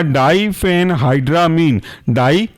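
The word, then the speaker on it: diphenhydramine: Spelling है क्लोर CHLOR, क्लोर, फेनाइरा PHENIRA, और imine AMINE, क्लोरफेनारामीन। दूसरा एग्जांपल है आपका डाइफेनहाइड्रामीन, DI फेन PHEN, हाइड्रा HYDRA, और अमीन MINE, साथ में बन जाएंगे डाइफेनहाइड्रामीन।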